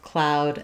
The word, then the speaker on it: cloud: I've rewritten cloud with the AU spelling, but typically that ow, we do spell it with OU, like in noun or about or doubt. Or we spell it with OW, like in now or brown or how.